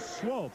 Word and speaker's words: Swope: And in the defensive backfield, Heaven and Swope, and that's the way it's pronounced.